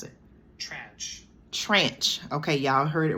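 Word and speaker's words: tranche: it hold on let me see how to pronounce it trench trench okay y'all heard it right here so a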